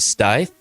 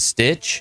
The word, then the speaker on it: Stith: I've heard stith and stitch. Smith, Steve, stiff and stit, but it's stith, just like it's spelled.